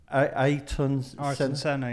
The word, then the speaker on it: Ayrton Senna: I can't always pronounce his name right. Is it Ayrton Senna?